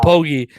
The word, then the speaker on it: Pogge: Pogge rhymes with Nogi.